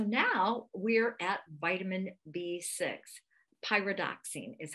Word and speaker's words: pyridoxine: Pyridoxine is how it's pronounced.